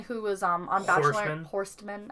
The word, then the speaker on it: Horstmann: was um on bachelor horstmann i think the t is silent but i told you